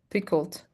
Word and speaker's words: pickled: A peck of pickled. We are not pronouncing the E. Pickled.